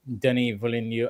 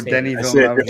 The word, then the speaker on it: Denis Villeneuve: I cannot still say Denis Villeneuve. I can never. Oh, Denis Villeneuve every time.